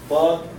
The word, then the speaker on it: ض: Actually the dad, yes, it is to this extent. If this is the tongue, then the left tip of the tongue with the left cheek, okay.